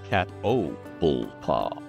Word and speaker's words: Catoblepas: kill you first um their name is pronounced catpa four syllables second syllable is the emphasis cat o bulla cat oh cat pla so that there cat